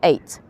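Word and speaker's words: ait: called an eight it spells aot but it's pronounced eight and you see there's a pillar down there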